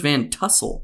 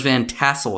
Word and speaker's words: Van Tassel: name George Van Trussell or is it George Van tussle hold on I think I said it wrong